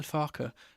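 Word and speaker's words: Farke: I have a a personal beef with Daniel Farer, or should I say Daniel Farer? That's the way he wants his name to be pronounced.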